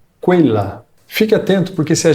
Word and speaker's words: quella: Em italiano, o grupo de letras Q, U, E tem o som de que. Então, essa palavra aqui se pronuncia quella.